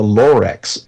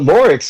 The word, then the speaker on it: Lorex: discovered one called the lorx l o r ex oh this isn't The Lorax which is a doctor something different not the doctor yeah exactly that's why I wanted to spell it but loric interestingly enough is also